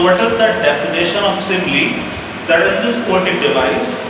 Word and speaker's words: simile: Yes, this is pronounced simile, the sister of imli.